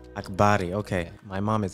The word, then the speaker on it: Akbari: Akbari. Akbari, okay.